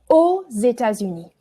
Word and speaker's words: aux États-Unis: Aux États-Unis. Aux États-Unis. Parfait, oui, you don't pronounce the X.